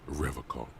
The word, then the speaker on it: Revocol: He pronounces Revocol with a hard K, unlike other people.